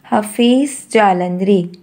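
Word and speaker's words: Hafeez Jalandhri: pakistan and the name of a person is hafiz jalandri and the name of a person is hafiz jalandri how to pronounce this name hafiz jalandri who wrote national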